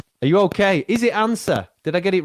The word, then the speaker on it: Anca: It's actually Anca, but don't worry, Anca. I've heard all sorts. I say it like Anca. I've made up a letter because it's a C, so it is Anca.